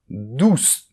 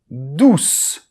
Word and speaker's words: douce: So then "douze, douce"; "douze", is the number; "douce", is the adjective. I will repeat, and you repeat after me: , , , .